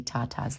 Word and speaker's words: Tata: Tata is the correct way to say my name in Italian. We have Americanized it, so if you ask me how to say my name, I will say Tata, but in truth, it is Tata, and that is the true Italian way.